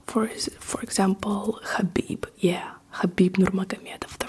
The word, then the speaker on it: Khabib: his name as Khabib Kabib because it's spelled like in English K h a but they made this K h a to emphasize the different pronunciation of the Russian H, but instead people just